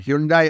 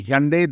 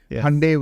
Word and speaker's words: Hyundai: a company that's been in the news uh Hundai or we should say Hyundai that's we are told is now the correct pronunciation Hyundai which maybe arriv with Sunday that's one way